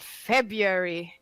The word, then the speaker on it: February: And February. How do you even say it? February. What? February. Yeah. Tisa, what did you say? February. Yes. I'm still weird. So you don't February. pronounce this first R.